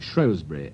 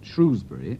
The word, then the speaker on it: Shrewsbury: Here's a short story called A Spadeful of Earth from the country bordering on Wales, the Shrewsbury area. Some people pronounce it Shrewsbury, and some call it Shrewsbury.